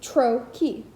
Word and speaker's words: trochee: is the thing it designates, a pair of syllables in which the first is stressed, dum-da, or in this case, tro-key, or I am.